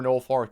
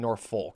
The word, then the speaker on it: Norfolk: 11 one stars for Norolk State. Definitely did not pronounce that right. Norfolk, right? Yeah, I think I think I said Norfolk. Yeah, it's definitely Norfolk State.